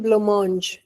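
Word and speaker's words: blancmange: इसको कहते हैं ब्लोमोंज। स्पेलिंग अलग है इसकी, प्रोनाउंसिएशन अलग है, क्योंकि ये इंडियन वर्ड नहीं है, इंग्लिश वर्ड नहीं है, ये फ्रेंच है शायद।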